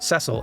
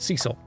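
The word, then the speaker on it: Cid: know for certain that it is pronounced Cil and not Cecil always very glad when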